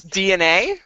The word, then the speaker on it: DeNA: that company is spelled yeah DNA DNA it's DNA yes that's how it's pronounced even though there's a